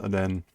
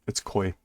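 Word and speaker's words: 恋: Yeah, so this first character can sometimes be pronounced Ren. But again, when it's in this situation, it's koi.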